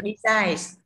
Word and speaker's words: besides: Tiếp tục, besides. Đúng không? Trọng âm rơi vào tiết thứ hai. Vì đi là tiền tố không nhận trọng âm rơi vào tiết thứ hai. Besides.